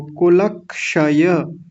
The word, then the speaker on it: कुलक्षय: क्या बनेगा वो जो क्ष होता है ना मैंने आपको बताया था ये आधा क और मूर्धन्य श होता है तो इनको साथ में जोड़ लें सबको कुलक्षय कुलक क्षय शय कुलक्षय तब इसका उच्चारण अच्छे से हो जाता है अकेले का इसका उच्चारण करना बहुत मुश्किल होता है इसका लेकिन यदि किसी के साथ मिल जाए ल के साथ मैंने जोड़ दिया क को अलग कर दिया श को अलग कर